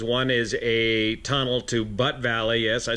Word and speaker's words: Butt Valley: two different directions one is a tunnel to butt Valley yes I said it right butt Valley Reservoir located right over here B not BTE